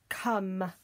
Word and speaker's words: come: let's have another one that's a silent e we don't hear that come come would you like